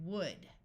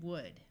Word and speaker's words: would: are could should and would notice that in all three words the L's are silent could should and would let's practice with some